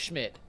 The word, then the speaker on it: Szymt: The question was, will Browns new kicker Andre Schmidt, and I can't believe that last name is pronounced Schmidt, be the Browns leading scoreer verse the Bengals?